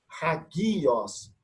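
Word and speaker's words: ἁγίοις: É como se tivesse aqui uma letra H, uma letra R, de rato, home, ok? Não funcionar como homem, porque é uma aspiração forte, chamada de espírito forte. Então, eu pronuncio hagios.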